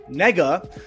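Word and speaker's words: 那个: as n-a-g-e or pronounced nega which apparently sounds similar yes to the n-word in english when it's said out loud but it's it's used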